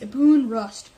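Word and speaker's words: Ibn Rushd: a Abu Abu rust a boon okay it's pronounced a boon rust known as the West known in the West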